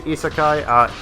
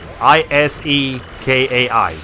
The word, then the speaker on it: isekai: Anyways, can you spell that for me? Isekai, K-A-I. I-S-E-K-A-I.